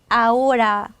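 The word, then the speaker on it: ahora: 다르게 생긴 것도 있거든요 아오라 지금 뭐 이런 뜻인데 이럴 때는 아채가 발음이 안 나기 때문에 그리고 영어하고 비슷하게 생긴 단어가 아니기 때문에 이렇게 아채를 쓸 때 빼먹을 수 있다라는 거죠 요거는 발음할 때는 발음 안 하게 하시면 되고요 그리고 쓸 때는 철자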